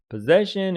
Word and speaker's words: possession: You think that it is position? No, it's not that. Possession is different from position. See, possession, it is like possessive adjectives, possessive pronouns, refers to owning, having something, possession.